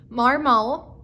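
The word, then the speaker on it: Marmot: everybody else so ugg marmol um it's m-a-r-m-o-t the t is silent marmo uh probably comparable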